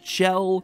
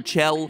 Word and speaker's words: Chell: role of test subject 1498 aka chell or shell i'm gonna call her chell there's an unused voice line of glados actually